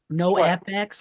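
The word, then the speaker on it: NOFX: you spell that Andy no FX like FX like the letters yeah yeah n o FX the name of the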